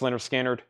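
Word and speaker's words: Lynyrd Skynyrd: on sounds of the South Blues project and Leonard skinnard of course the lyard skinnard records on that label are very collectible that's the first Leonard skinnard pronounced and the second one those are very collectible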